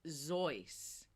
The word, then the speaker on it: Seuss: soyuz why do you hate me and it's zoice well it's gonna it's it's not gonna tell